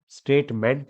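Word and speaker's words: statement: General स्टेटमेंट। किसी भी word के लास्ट में MENT होता है, तो उसका करेक्ट प्रोनाउंसिएशन मंट होता है, ना कि मेंट। स्टेटमेंट नहीं है, स्टेटमेंट, गवर्नमेंट, है ना, ये ध्यान रखना।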